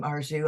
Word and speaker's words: Arzu: possible backgrounds and today I'd like to welcome our zoo and how do you say your last name arzu I want to make it perfect there you